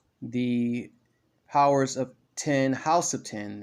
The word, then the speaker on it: X: So yeah, it's the Powers of 10, House of 10, and that's actually how it's pronounced. I thought it was Powers of X, House of 10, but it's Powers of 10, House of 10.